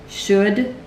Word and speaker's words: should: The L is really silent in these.